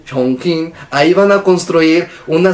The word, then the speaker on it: Chongqing: Esto es en China, donde construirán en este lugar llamado Chongqing, así se pronuncia. Chongqing.